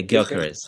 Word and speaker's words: Gyökeres: How is it pronounced? Gyökeres? Yeah, Gyökeres.